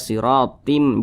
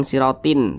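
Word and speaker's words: صراطا: dimasukkan ke huruf mim jadi dibaca siratim jangan siratin tap tapi diganti menjadi m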